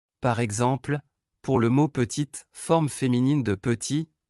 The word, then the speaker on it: petite: Par exemple, pour le mot petite, forme féminine de petit, la consonne T finale est prononcée.